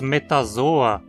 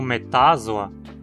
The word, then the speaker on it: Metazoa: E por que dizemos metazoa e não metázoa? Aqui a penúltima sílaba é zo. Ela não termina em consoante nem tem ditongo, mas tem uma vogal longa.